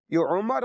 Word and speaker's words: عمر: के ऊपर जबर है उमर और अमर में फर्क करना जरूरी है तो आप देख लिया करें अगर आखिर में वाव लिखा हुआ है तो अमर इसको पढ़ा जाएगा नहीं लिखा हुआ तो उमर पढ़ा जाएगा यानी जब वाव आएगा